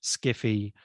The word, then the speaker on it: skiffy: So you have loads of derivations of science fiction, sci-fi, speculative fiction, skiffy, which is sci-fi pronounced literally, and they all have various different allegiances.